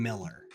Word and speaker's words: Mueller: Anyway, it's spelled Mueller, which is German, right? But do you say Mueller or you say Miller? So when I first moved here, everybody was saying Miller. Nobody said Mueller.